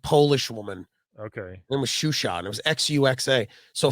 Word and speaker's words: Xuxa: Well, remember Shusha? Do you remember Shusha in the 90s? No. XUXA. It was like this blonde, like Polish woman. Okay. It was Shusha, and it was XUXA.